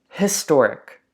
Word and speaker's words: historic: but so haha so historic right that's a voiced H right it's not silent right an hour okay